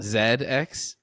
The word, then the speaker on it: ZX: pronounced ZX Spectrum uh Zed X Zed is just the British pronunciation of Z it's a British computer